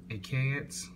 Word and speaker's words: Achatz: Oh, I'll tell you how to pronounce it. Achatz.